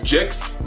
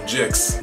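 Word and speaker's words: Gixx: One, I believe you pronounce it as Jix, like what rhymes with trail mix.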